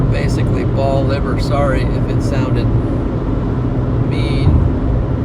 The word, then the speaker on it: Bolivar: Next time you visit, please say ball liver. Basically, ball liver. Sorry if it sounded mean. It's just we don't pronounce it like people in Tennessee. Ball liver. Okay. Boliver.